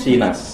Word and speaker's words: SIINas: Itu ada SINAS, bacanya SINAS atau SINAS? SINAS. Oh, SINAS.